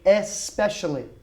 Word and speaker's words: especially: orbital especially especially good remember this is one of those pronunciation words that we say especially normally we do not have the e in front of the s we will say he